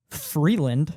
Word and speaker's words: Vreeland: But music done by Rich Freeland, which is spelt Vreeland, also known as Disaster Piece.